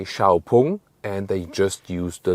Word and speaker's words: XPeng: on, and the name, like the pronunciation XPeng, is just used internationally. Inside China they say Xiaopeng and they just use the logo.